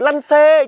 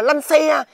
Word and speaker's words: lăn xê: nhau thôi nhưng mà tôi phát âm được lăn xê chứ không phải là lăn xe ủa còn bây giờ